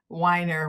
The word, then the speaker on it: Weiner: early because of my last name being pronounced weer when I was growing up it's now Wier once I went off